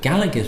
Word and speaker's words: Galleg: Gallic not Gaelic and it's probably not even pronounce Gallic but Gallagher's apparently Gallic G a double l eg is Brett on which